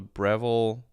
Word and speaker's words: Breville: It's called a Breville. Oh, Breville, not Bevel. Breville. Is this how you spell it?